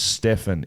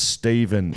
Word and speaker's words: Stephen: Dan, $1 for mispronouncing my name as Stefan. It's Stephen, you prick.